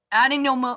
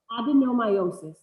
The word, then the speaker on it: adenomyosis: Peggy is, okay, I have to say, a dean, adenoma, no, I don't know how to say this. Peggy, can you help me with that word? Adenomyosis.